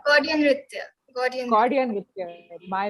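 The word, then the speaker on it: Gaudiya Nritya: For everyone watching this, Jaya is a classical dancer trained in Kuchipudi, Gudiya Nritya. Is that how you say it, Jaya? Did I say it right? Gaudian Nritya.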